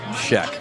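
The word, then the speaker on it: Schoeck: Scheck is spelled S-H-O-E-C-K. Tommy Scheck.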